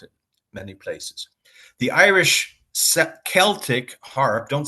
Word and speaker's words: Celtic: The Irish Celtic harp, don't say Celtic like the American basketball team. Americans always say Celtic. This is incorrect. It should be a hard C. Celtic.